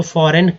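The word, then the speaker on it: foreign: जी एन, जी एन, जी जो है दोस्तों यहाँ पर जो है साइलेंट वर्ड है, ठीक है, साइलेंट वर्ड है तो इसे नहीं पढ़ेंगे, तो जी एन से न होता है, एक्चुअली ऐसे समझे जी एन से न भी होता है।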